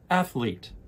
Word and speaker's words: athlete: And the TH sound, ath, is more similar to the word bath, bath, ath, athlete.